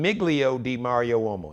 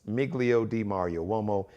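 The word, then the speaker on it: Migilio di Mario Uomo: This is an Italian name, Miglio di Mario Uomo. Now, let me spell it. It's M-I-G-I-L-I-O. D-I-M-A-R-I-O. U-O-M-O. That's Miglio di Mario Uomo. M-I-G-I-L-I-O. D-I-M-A-R-I-O-U-O-M-O. Miglio di Mario Uomo.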